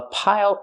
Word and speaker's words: pile: Use the dark L at the end. It changes the vowel.